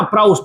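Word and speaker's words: Proust: सकता है ना, लेवासिए और प्राउस्ट, है ना, प्राउस्ट, ये प्रोनाउंसिएशन होता है लगभग इसका सेम, हो सकता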